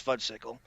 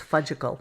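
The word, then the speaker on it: Fudgsicle: So the next thing is, let's go to this will please Fudgesicle. Let's harken back to 2001. It's Fudgicle. I know. I actually love Fudgesicle, so I can't help pronounce it.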